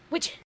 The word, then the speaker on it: widgeon: It's almost like pigeon, but not. Widgeon.